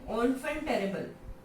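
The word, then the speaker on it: enfant terrible: हैं नेक्स्ट जो है ऑनफेंटेरेबल। ओके, ऑनफेंट, ओके, ये एन अगर हम ऐसे पढ़े तो एनफेंट पढ़ा जाता है ना, बट नहीं, इसका फ्रेंच में इसका प्रोनाउंसिएशन क्या होता है, ऑनफेंटेरेबल।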